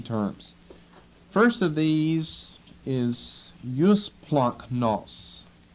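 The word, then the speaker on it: eusplagchnos: which looks like that use plunk NOS e-u-s-p-l-a-g-c-h-n-o-s you're warning about the pronunciation whenever you get a gamma next to a Kai or Kai uh produces a funny sound okay and uh First Peter chapter three and verse 8.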